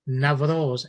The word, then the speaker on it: Navroz: You know, people say Navroz, N-A-V-R-O-Z, which is what it is. But in the Persian language, they say Nowruz. Doesn't matter how you say it, as long as you identify with the meaning.